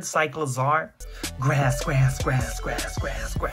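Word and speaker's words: Cyclizar: Cyclozar. That's how you say it. Like a cycle, but a lizard. Cyclozar.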